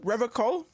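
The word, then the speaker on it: Revachol: He pronounces Revocol with a hard K, unlike other people. Serious question time. This man is no innocent. No one is. You said Revocol? I like to pronounce it the hard way. The old way. The Vespertine way.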